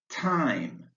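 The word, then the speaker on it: thyme: Time, the TH is pronounced T.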